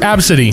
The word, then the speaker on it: ABCDE: absidy ugh gross oh ABCDE pronounced absidy chlamydia Ain't No Way